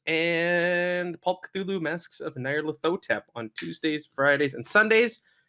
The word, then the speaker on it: Nyarlathotep: Can you please just one more time for me pronounce Nyarlathotep? Masks of Nyarlathotep.